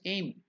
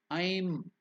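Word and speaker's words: ऐं: repeat it I'm gura sometimes they write it as a I am but if you write a I am you can pronounce it also as aim but it is really it has to be pronounced as I'm I'm so I that's why I given the word i and m I is to be elongated I'm gura will you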